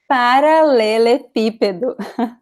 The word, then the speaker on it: paralelepípedo: Paralelepípedo. Paralelepípedo. It means cobblestone. You know, the stressed letter is the I because of the accent.